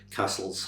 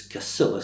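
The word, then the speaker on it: Cassillis: clan's famous castle called Castle's House which some people mispronounce as Casillus. So if we're going to get right, let's get Cas Casillus out of the way and call it Castle's House.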